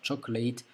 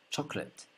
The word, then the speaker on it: chocolate: La différence, elle est toute simple. C'est simplement qu'à la fin, on ne dit pas a, non pas chocolate, mais bien chocolate. Chocolate. D'accord? C'est comme un E, tout simplement, à la place de a.